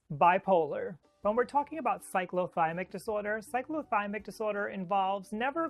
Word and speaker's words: cyclothymic: really so familiar with bipolar disorders yes it's pronounced cyclothymic if you're coming here from an older video